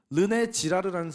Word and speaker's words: 르네 지라르: 이런 프랑스의 유명한 인류학자 르네 지라르라는 사람이 있습니다 발음에 유의하셔야 돼요 르네 지라르 그런데이 프랑스에서 굉장히 위대한